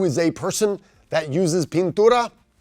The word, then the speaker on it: pintura: paint well that is remember the burrito rule of pronunciation that I makes the long e sound so it's Pintura now who is a person that uses Pintura right that is a